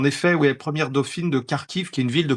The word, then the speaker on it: Kharkiv: Avant, on disait Kharkov parce qu'on avait l'habitude de prendre la prononciation des Russes. Mais en ukrainien, on dit bien Kharkiv et avant, on disait Kiev.